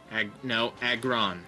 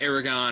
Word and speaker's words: Aggron: Aggron. That's how you say it. It's not like Aragon or Aggron or no, it's Aggron.